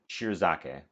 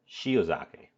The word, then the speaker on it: shiozake: to hack them with shiozake there's no r in it that's why I'm mispronouncing it um I'm pulling up